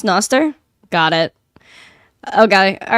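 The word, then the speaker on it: Nostr: yeah BTC equals hatch against Central Banking yeah Noster oh that's how it's pronounced Noster got it okay all right I'll look into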